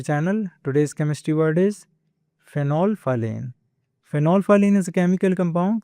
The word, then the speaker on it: phenolphthalein: The H and T in the middle are kind of silent, and you do want to replace them with the F sound. So the correct pronunciation is phenolphthalein.